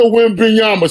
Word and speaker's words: Wembanyama: I can't pronounce his last name. Wembanyama. Wembanyama? Wembanyama. Well, that's close. His name Victor Wembanyama.